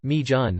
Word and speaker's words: Megan: today i learned that my grandma megan's unusual pronunciation of her name mejun was connected to her welsh heritage if my grandpa could